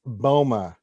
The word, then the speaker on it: Boma: to the other fet it's not django it's not bubba it's boma and you better say